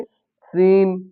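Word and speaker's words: scene: अगर एस के तुरंत बाद सी आता है तो फिर सी जो है वो साइलेंट हो जाता है। फिर हम पढ़ने में सी का उच्चारण नहीं आता है। जैसे सीन सीन होता है दृश्य साइंस विज्ञान और शेड्यूल।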